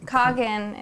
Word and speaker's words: Kangen: got Jenny here with Kagan water right did I say right yes see the American way the American way how do you say kogan is how the Japanese say it because it's a medical